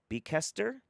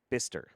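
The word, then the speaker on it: Bicester: of cash teasing you b-i-c-e-s i'd say it's be kester but it's pronounced bister why is there what i don't [ __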